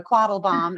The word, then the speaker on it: Quadelbaum: Yeah, my last name is German, so Quadelbaum is how you pronounce it.